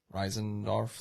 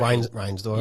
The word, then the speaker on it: Reinsdorf: The Bulls are the same way with how do you pronounce his name? Reisendorf, the owner. Like, he wanted more credit. Reinsdorf.